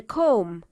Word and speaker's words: comb: of scissors let's read the M sound is a final silent digraph where the B is silent read the words aloud don't forget to keep the be silent mmm climb comb LEM